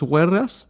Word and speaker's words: huelgas: Strikes, Las huelgas, las huelgas. huelgas, Huelgas. con L de Lugo. Los huelgas.